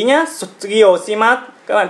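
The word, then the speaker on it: 卒業します: Các bạn chú ý nhé, sotsugyo shimasu. Các bạn chú ý cách phát âm của chữ sư này để chúng ta không bị ngọng nhé.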